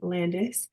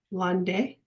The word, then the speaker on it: Landais: We have Miss Landais, which I was debating whether I was going to try to say her name the right way in French. Correct me if I'm wrong. Landais?